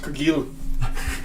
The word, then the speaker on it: Cargill: It's pronounced Cargill. Oh, it's French.